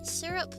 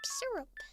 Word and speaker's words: syrup: Syrup. But you say it like Europe. Syrup.